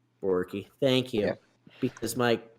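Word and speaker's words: Borucki: Ryan Brockie or Brokey, or how do you pronounce that name? Let's see. Borky.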